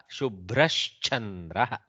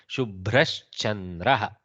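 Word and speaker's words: शुभ्रश्चन्द्रः: Shubhrash chandraha. Okay, should not say Mahaprana, sorry. Shubhrash chandraha. Bha is Mahaprana but not cha, so I should be very careful.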